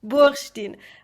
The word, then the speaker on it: Bursztyn: And my guest today is Bursztyn. Did I pronounce it correct? Bursztyn, almost. Bursztyn.